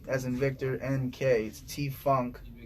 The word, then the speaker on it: T.Fvnk: f v as in victor NK t funk pronounced don't forget the dot don't yes right right